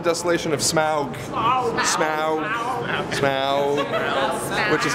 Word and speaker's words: Smaug: Smaug. Which is how it's pronounced.